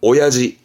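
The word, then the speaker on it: 親父: 이때 발음 바뀝니다. 이때는 오야지.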